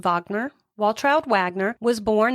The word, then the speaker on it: Wagner: the the names Walch Wagoner which I'm pretty sure over there would be pronounced Ed Vagner while child Wagner was